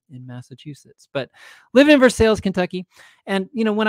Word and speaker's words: Versailles: visited just yesterday i'm called simmons elementary in versailles kentucky yes i know that that is pronounced versailles but we are kentucky and uh